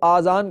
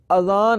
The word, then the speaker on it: اذان: بھی درست کر لیں، بعض لوگ اذان کو آذان کہتے ہیں، آذان تلفظ نہیں ہے، آذان جمع ہے اذن کی، اور اذن کے معنی ہے کان، درست تلفظ اذان ہے، یعنی الف پر زبر ہے، الف کے اوپر مد نہیں ہے، اذان۔ اور اذان کے لغوی